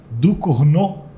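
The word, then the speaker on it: Ducournau: Eh, também estreia Alfa, que vem a ser o filme novo da, eu procurei a pronúncia correta, tá? da Júlia Ducnô, que é a mesma diretora do Titânia, aquele filme que fez bastante aué, como diriam os incas.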